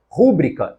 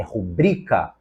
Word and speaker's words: rubrica: irrequieto na letra C rúbrica está errada é rubrica rubrica a palavra é paroxítona na letra D manteigueira